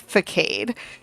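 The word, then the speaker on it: façade: And in the Pokemon games, it's not that C, it's a normal C, and it's pronounced Facade.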